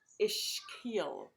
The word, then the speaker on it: ischial: It's called the ischial, and correct pronunciation is as ischial, but I say ischial. It's easier to say.